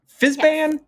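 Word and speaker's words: Fizban: how to pronounce because i've always said fisben uh fizzband uh fizzband it's it's like whizbang our local kiwi who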